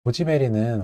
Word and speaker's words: 고지 베리: 뭐 붉은 다이아몬드라고도 부르는데요 고지 베리는 원래 구기자의 중국식 발음이 이기 때문에요 발음이 이제 고지